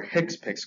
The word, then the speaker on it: HCPCS: common procedural terms or hick piix codes which stands for a healthcare common procedure coding system now I know it's spelled hcpcs but just to ensure you they are called hipic codes whenever a claim is